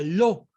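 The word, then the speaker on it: לא: excelencia del hebreo está compuesta por las letras lamer y aleph y se pronuncia lo que significa no así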